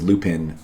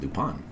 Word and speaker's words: Lupin: I used to think it was Lupin and then I learned it was actually pronounced Lupon because it's like French.